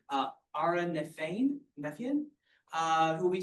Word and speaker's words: Nefian: My name is Aaron Nefan. So, um, uh, the pronunciation was, uh, perfect.